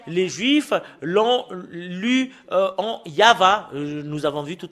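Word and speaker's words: יהוה: fait de le lire selon la Sainte Écriture hébreu c'est yava qu'on le prononce et vous pouvez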